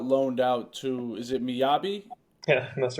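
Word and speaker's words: Mjällby: Is it Miyabi? Yeah, that's right. That's Yeah. a difficult one Okay. to pronounce. I saw the J and I was like, I'm gonna assume it's a Y, kind of.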